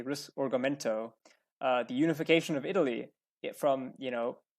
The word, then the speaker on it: Risorgimento: The Italian unification, the my Italian is bad, but I believe it's pronounced the Risorgimento, the unification of Italy